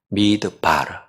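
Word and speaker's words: מדבר: 자, 광야길을 걷게 하신 것을 기억하라 했는데 이 광야라는 말은 히브리어로 정확한 발음만 미드바르입니다. 광야, 미드바르.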